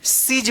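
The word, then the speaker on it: siege: बड़ी ई ब्रीफ इसी प्रकार से यहां पे देखिए एस आई ए जी ई सीज पढ़ेंगे। क्या पढ़ेंगे? सीज यहां पे आई जो ई जो है ना लास्ट में साइलेंट है।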